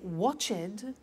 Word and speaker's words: watched: T we don't say watched we eliminate the E and we say watched okay interesting hey so look at that watched danced eliminate the E pronounce the T danced laughed washed and